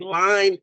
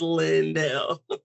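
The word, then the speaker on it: Lynn-Elle: Because sometimes people are like, line is not line, it's Lindell. So Linnell, anyway, yes.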